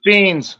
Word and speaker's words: Phenes: It's Phenes. Phenes. Oh, You're okay. close. You're All close. right, Close. Yeah. Good enough. Well, my audience isn't shocked. Yeah. Trust me, my whole life it's been getting butchered. I mean, it's a hard last name unless you know how to pronounce it.